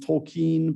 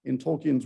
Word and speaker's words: Tolkien: I hear it's actually pronounced Tolkien, but I can't say that because I've been saying it Tolkien my entire life.